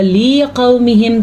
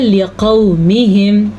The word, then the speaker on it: لقومہم: یہاں پہ ہے لقومہم، اگر کوئی اس کو پڑھے گا لقومہم تو اس نے بالکل غلط پڑھا، کیونکہ لی اس صورت میں ہوگا جب لام کے نیچے کھڑی زیر ہو یا لام زیر یا ساکن لی ہو تب، تو اسے آپ نے پڑھنا ہے لقومہم۔ اِنَّا بُرَآءُ مِنْکُمْ، غنہ،